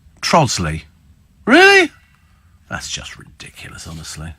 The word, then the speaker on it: Trottiscliffe: ridiculous there's also also trottiscliffe in Kent trosley really that's just ridiculous